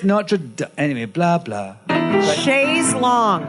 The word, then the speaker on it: Notre Dame: It's Notre Dame.